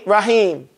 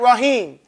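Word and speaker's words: رحيم: Right, you have to have that ha. Say ha. Ha. It cannot sound like ha. You can't say Ghafurur Rahim. People say that, Rahim. His name ain't Rahim. His name is Rahim.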